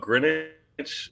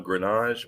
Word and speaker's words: Grinage: It's actually I grew up Greenwich, but I chose the French pronunciation of Grenage. But I actually Oh, use Greenwich. Grenage. Okay. Like fromage.